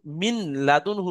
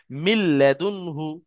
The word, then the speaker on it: মিন লাদুনহু: তাহলে এখানে কেউ যদি মিন লাদুনহু পড়ে, মিন পড়ে, আর লামটা না পড়ে তাহলে কিন্তু ভুল হবে। মিল্লাদুনহু এইভাবে পড়তে হবে।